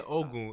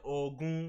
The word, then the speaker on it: Ogun: I didn't say Ogun. I said Ogun because that guy's Nigerian. So, that's Nigerian. You gotta pronounce it right.